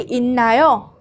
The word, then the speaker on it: 있나요: Chỗ này chúng ta sẽ không đọc là it đúng không ạ? Bởi vì phụ âm 받침 là 시옷 này. Khi mà cộng với cả 니엔 phía sau thì 시옷 sẽ được biến đổi thành 니엔. Mình sẽ đọc là in, được chưa?